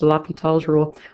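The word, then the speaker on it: L'Hôpital: It has been known and is common to see an S there, so if you're thinking this sounds a lot like hospital, yes, you might see it spelled like that, but it's French.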